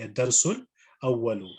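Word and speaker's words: الدرس الأول: So ad-darsul awwalu, if you would say it properly, ad-darsul awwalu.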